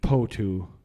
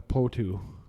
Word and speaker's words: potoo: that I'm not too sure but the mighty potoo that's big bulging yellow eyes like this is